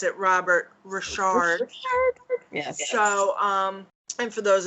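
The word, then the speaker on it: Ri'chard: And Jen's crush of her childhood, whom I just learned we pronounce it Robert Richard.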